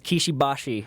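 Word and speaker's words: Kishi Bashi: It's Japanese, so it's Kishibashi.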